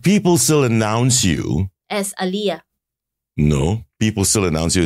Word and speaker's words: Alia: Everybody, any one of you out there who do work closely with Alia, it is pronounced as Alia.